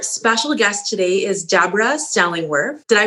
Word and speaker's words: Stellingwerff: life so our special guest today is deborah stellingworth did i pronounce that correctly exactly perfectly perfect and deborah